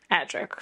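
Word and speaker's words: Adrik: Adric, sorry. You know, it's fun being able to see how you pronounce it because you're reading it and then what I hear.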